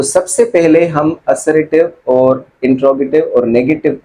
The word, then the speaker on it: इंट्रोगेटिव: ठीक है, उसके बाद आता है हमारा इंट्रोगेटिव। अब ये प्रोनाउंसिएशन आप थोड़ा सा नोट कर ले कि ये इंटेरोगेटिव नहीं होता, ये होता है इंट्रोगेटिव।